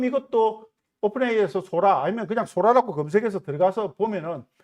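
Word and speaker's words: Sora: 그리고 이게 작년에 4월 달인가 그 데모 버전이 한번 정식 버전 아니고 되면서 뭐 세상을 발칵 뒤집어 놓은 소라라고 하는 것인데 먹는 소라가 아닙니다.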